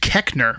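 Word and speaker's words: Koechner: yeah tom pacquiao pac-man his last name is pronounced kechner which you would never know really i have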